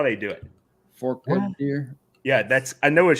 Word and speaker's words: Forked Deer: for deer yeah that's how they do it Fork deer yeah that's I know what she's talking about